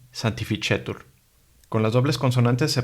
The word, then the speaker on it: sanctificetur: La C, seguida de la E, I, AE y OE, se pronuncia como la che. Entonces tenemos dos ejemplos, cello y sanctificetur.